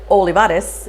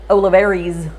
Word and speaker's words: Olivares: Because I said Olivares, and they were used to hearing, because we were in Albuquerque at the time, Olivares.